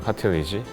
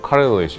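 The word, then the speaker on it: cartilage: 카틸리지. 미국식 영어는 뭐 카릴리지 약간 이렇게 하죠.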